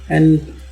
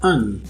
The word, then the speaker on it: an: Same is the case with an. Its strong form is pronounced as an, and its weak form as un. Un, that is with schwa.